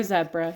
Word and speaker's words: zebra: the more the merrier or zebra it depends um where you're from it's pronounced differently so here's our whole